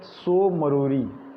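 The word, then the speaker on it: Tso Moriri: एक लेक तो अभी बहुत न्यूज़ में था, पागांग लेक, आपने नाम सुना होगा, पागांग लेक लद्दाख में है, और दूसरा है सो मरोरी, टी साइलेंट है यहाँ।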